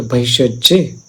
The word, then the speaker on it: भैषज्य: उच्चारण थोड़ा अलग है, लेकिन हम एक संस्कृत से जाएं, संस्कृत उच्चारण से जाएं तो वैशज्य माने क्लेश है।